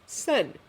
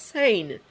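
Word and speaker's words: Seine: dive into the same actually it's pronounced sen Steven points out not Saye Mark closes his eyes I'll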